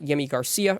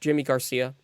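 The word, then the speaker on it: Yimi García: piece um but the Mariners uh again got yimi Garcia or it it looks like yimy Garcia but it is pronounced Jimmy Garcia um I should actually make that very clear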